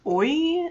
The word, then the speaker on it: oi: in portuguese earlier um anna says oy or i i know i may not be pronouncing that quirk but it's o i oh like hi i